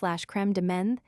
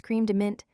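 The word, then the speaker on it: crème de menthe: mayonnaise rhymes with hay creme de menthe is cream de mint Schweizer is Schweitzer .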